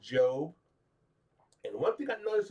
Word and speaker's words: Job: And uh his name is pronounced Job.